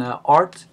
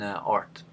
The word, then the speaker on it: Rt: most of the time pronounce the name of the computer program art instead of RT just like we uh